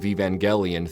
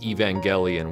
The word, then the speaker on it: Evangelion: you may have noticed I've been pronouncing Evangelion with a hard e at the front but I'm using hard G in the middle despite the word Angel being the central word of the title I've done this up